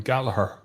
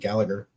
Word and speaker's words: Gallagher: did you okay so I pronounce that name Gallaher okay that's the G the second G I would have said Gallagher yeah just saying um you